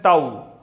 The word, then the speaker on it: tau: Symbolically, torque is represented by this symbol which is pronounced as tau.